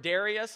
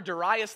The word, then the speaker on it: Darius: The Bible says that, "Please," and you heard Darius, a lot of us refer to the name as Darius. The correct pronunciation is actually Darius, okay?